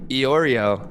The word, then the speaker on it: Iorio: If you would just spell it E-Y-E, Oreo, like the Oreo we eat, that would be helpful.